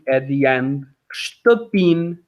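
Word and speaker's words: shtëpinë: It's not ștăpină. If I pronounce it like that, it's because I want to let you know there is an there, ștăpină. But it's ștăpin, like that, ștăpin.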